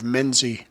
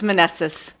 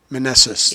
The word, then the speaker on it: Meneses: I look at it and I think of Menzie. I know Yeah. that. Is that how you say it? No, it's Meneses. Meneses.